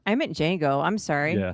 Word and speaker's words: Django: But did you say Django? I meant Django. I'm sorry. Yeah, that's not Django. Dang. I know. Django. The D is silent.